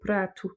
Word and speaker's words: prato: Donc nous assiette en français c'est un mot féminin mais en portugais pratou c'est un mot masculin. Donc s'il est au singulier on dit pratou et s'il est au pluriel pratouche. Mais en tout cas la prononciation du ha ne change pas.